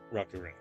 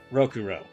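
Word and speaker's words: Rokurou: can get that for Rocko rocku I can get for that for Rocko why am I calling him name that rokuro I don't know why I was mispronouncing his name there anything else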